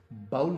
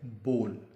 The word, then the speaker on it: bowl: हैं, ये है BOWL, जिसको अक्सर लोग गलत तौर पे बाउल कह के प्रोनाउंस करते हैं। बाउल, ज़रा बाउल दीजिएगा, ज़रा बाउल में ये डाल दीजिएगा। बाउल में एक प्याला जिसे कहते हैं आप उर्दू में, दरअसल ये बाउल नहीं है, लफ्ज़ है बोल। बोल, जैसे आजकल बोल टीवी है, या बोल के लब आज़ाद हैं तेरे, बोल, बी वाओ लाम, बोल। यूँ समझिए आप कि इस W को आपको प्रोनाउंस नहीं करना है।